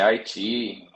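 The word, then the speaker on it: iQIYI: Brasil é se escreve I, mas assim, a pronúncia é Haiti, é difícil acostumar porque é o, é como o Mandarim fala, né, Haiti, I, enfim.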